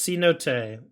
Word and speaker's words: Cenote: I think it's C-Note. Marshall says pronounced C-Note.